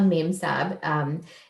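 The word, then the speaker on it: memsahib: I think it's like the British word ma'am combined with sahib, which is a Hindi word of respect.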